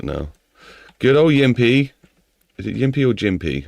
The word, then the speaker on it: GIMP: So it's GIF, so it'd be Jimp. It's Jimp, it's pronounced. Because G's are spelled pronounced like a J, I think, innit?